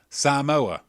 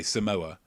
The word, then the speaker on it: Samoa: father is african-american but where's this mother from samoa and that's how you pronounce it otherwise people think you're racist samoa okay because a lot of people will say samoa you think um you okay great yeah where's